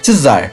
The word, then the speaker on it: czar: tratar É sobre o termo que usar que pronuncia-se tzar foi usado por muito tempo como um título